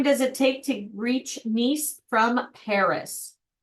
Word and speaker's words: Nice: friendly tip to all it pronounces as Miss what is that oh instead of nice it's nce nce thank you yes okay